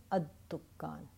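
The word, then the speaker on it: الدكان: Remember that when there is a Shamsi letter, I do not pronounce the al. The alam gets assimilated with the Shamsi letter. At-tajir, ad-dukkan.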